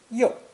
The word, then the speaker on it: 又: Our next character is another hand, but this time it's the pictogram of a right hand, pronounced with the 4th and falling tone. You, you.